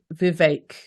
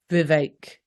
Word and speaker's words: Vivek: he pronounced it Vivek, like ache. Vivek. Yes, I would say Vivek.